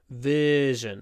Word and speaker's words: version: version of the app version remember with the uh sound everything goes forward lips and the middle of the tongue version version the latest